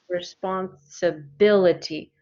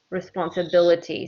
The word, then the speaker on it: responsibility: longer one okay responsibility responsibility has six syllables responsibility the stress is on let's see the fourth one responsibility responsibility so if this has